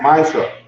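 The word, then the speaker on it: מעשר: Means 10 in the Hebrew and pronounced Maisha.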